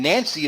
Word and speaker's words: Nanxi: And Nancy is spelled Nanxi.